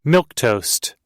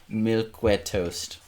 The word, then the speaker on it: milquetoast: Which is he was totally, spelled with a Q, by the way. Milk toast. It's milquetoast.